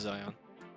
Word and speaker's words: Zion: How to pronounce? What? Zion Williamson. Zion. It is Zion.